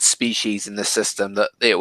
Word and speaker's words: species: It's spelt species, but it's pronounced species, and like your eyes perceive them, but that lets you see.